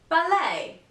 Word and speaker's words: ballet: it's a French word if you find a French word used in English and this word ends in the letter T don't say the T Chevrolet whistle bustle and